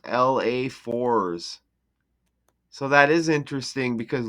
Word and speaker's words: LA4ss: Oh, it's pronounced LA4s. Now there it is. His stage name is pronounced LA4s.